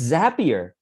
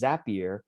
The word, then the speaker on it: Zapier: for french people it's zapier because they say zap literally their tagline is zapier makes you happier they they have that